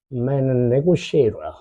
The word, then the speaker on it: negotiator: Negotiator. negotiator. T가 아니야. 쉬야. 쉬. 발음이 negotiators죠.